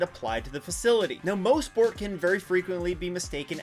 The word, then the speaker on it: Mosport: Mostport, yes, it's pronounced Mosport and not Mosport, has a long history behind it, dating back to 1958.